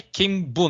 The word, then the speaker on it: kenbu: E é interessante também reforçar que é Kenbo, né?